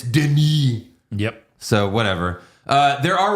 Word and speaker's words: Denis: His name is spelled Dennis, but it's not Dennis, it's Denis.